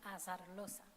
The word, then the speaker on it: Azarloza: And as the final candidate, Azarloza, or Azarloza, how do you pronounce it? Azarloza.